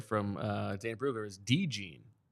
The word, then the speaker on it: DeJean: gotta I know now this is interesting the pronunciation here from uh Dan bruger is De jeene not Cooper Deen Cooper deene okay okay deene yeah I didn't